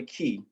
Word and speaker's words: qi: 12 primary key channels this is spelled qi or key rivers and eight vessels or